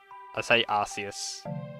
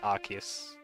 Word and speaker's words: Arceus: I say Arceus, but apparently it's like Arceus.